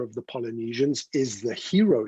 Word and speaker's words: Hiro: And there's so much meaning embedded in the word hero. Yes. Yes. And hey, that's a good point, John, because a lot of people have said, why not hero like it's spelt H-E-R-O?